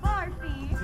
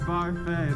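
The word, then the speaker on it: Barfée: William Barfy. It's pronounced Barfay.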